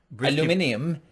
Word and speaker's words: aluminium: Aluminium.